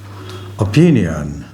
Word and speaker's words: opinion: on yo opinion this is oh opinion opine sorry opine and this is o p nian the stress is here on the second syllable here it is also